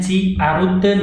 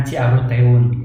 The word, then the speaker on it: Ciaruteun: Ini dibacanya Ciaruten ya, bukan Ciaruteun.